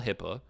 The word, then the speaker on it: HIPAA: And then he started arguing that, that's a HIPAA violation, which I don't think he could even spell HIPAA. Stands for HIPPA. It's spelled HIPPA.